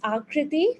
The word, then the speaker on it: Akriti: another hand raised um escriti or akriti please correct your pronunciation of your name when you unmute uh it's akriti so you were pretty much right um hi everyone so